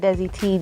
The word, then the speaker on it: DESIITEE: You can follow me at Desi T, DESIITEE.